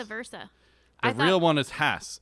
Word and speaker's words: Hass: people think it was haas h-a-a-s no i thought it was vice versa the real one is hass it's pronounced hass like class but a lot of